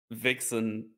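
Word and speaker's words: wichsen: Vixen is a German word for masturbation. Really? How do you spell it? Yeah, you spell it like this. But you pronounce it like you pronounce it exactly like this.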